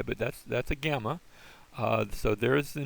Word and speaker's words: gamma: So there's the name, and it has the G sound unless there are two in a row. If you have double gammas, it's pronounced like an ing, an ing sort of sound.